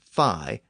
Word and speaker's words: Phi: by the Greeks but I'll use the more modern pronunciation fi as in the fraternity and sorority names part of the difficulty